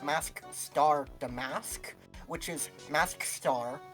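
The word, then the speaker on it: Mask☆DeMasque: I really like the double entendre with this dude's name, because it's, I think, as will be revealed soon, it is pronounced Mask Star Damask, which is Mask Star, like master, as in master thief, Oh.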